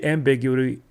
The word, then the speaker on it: ambiguity: that there's no amb ambiguity ambigu ambiguity ambiguity ambiguity thank you put the emphasis on the wrong slel there's no ambiguity what's